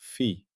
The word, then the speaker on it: phi: Up to now, we've built the alphabet of the pure phi language. We began with phi, pronounced fee, the circle mark, a phase value assigned to each event in the minimal support X.